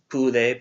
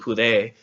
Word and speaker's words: pude: And so to the right, you'll see some examples like poder, pude, pudiste. Notice the pronunciation isn't pude, because it doesn't have an accent mark. It's pude, pudiste, pudo, not pudo, but pudo, pudimos, pudistes, pudieron.